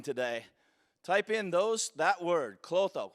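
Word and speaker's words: Klotho: If you take anything out of this meeting today, type in that word, clotho. Some people pronounce it clotho, K-L-O-T-H-O. It's one of the big 5 proteins for anti-aging.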